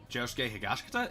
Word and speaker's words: Josuke Higashikata: So he's basically, Josuke Higashikata?